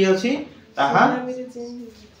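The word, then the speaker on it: tsunami: simple rule তোমার পরে যদি টি আছি তাহা সুনামিরে চেঞ্জ হ সুনামিরে চেঞ্জ হয়ে যাইবো সাইলেন্ট হয়ে যাইবো সেদিরে তুমি টি এস লিখিবো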